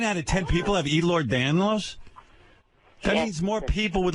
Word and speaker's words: Ehlers-Danlos: It would be nice if you would pronounce it correctly. Charlie Daniels. How do you got Charlie Daniels disease? Here's Charlie Daniels disease. What is the disease? Ehlers-Danlos.